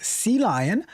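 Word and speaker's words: CLion: Sea lion. Like it's the letter C and then the word lion. But there's also the the aquatic animal called a sea lion.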